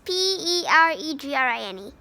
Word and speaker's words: peregrine: air the perigrine the paragrain now i didn't pronounce it this paragraph the pair where is this p-e-r-e-g-r-i-n-e peregrine peregrine terra grind falcon is the fastest